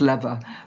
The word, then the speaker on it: Lever: my name is Lever, although like a gear lever. Although obviously the way it's spelt, it can be pronounced lever, but actually, so it's easy to make that mistake.